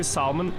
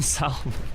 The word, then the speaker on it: salmon: How do you say salmon with an L? They've fooled you all. You don't have to pronounce it the way they do. Pronunciation of words changes over time. Take back the L in salmon.